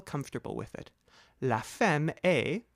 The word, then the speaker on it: est: La femme est, spelled E-S-T, but don't pronounce the S or the T, dans la cuisine.